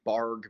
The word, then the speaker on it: Bargue: in so today we're gonna start learning the barg method it's pronounced barg even though it's spelled like bargu um the